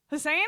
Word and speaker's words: Hussain: Did I say it right? Hussain? Yeah, you got it right. Yay! Yeah, like Saddam.